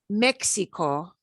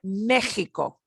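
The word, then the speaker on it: México: And those, pronounce them like the J or like the G-E-G-I combination, the throaty H. So not Mexico, but Mexico. Mexico.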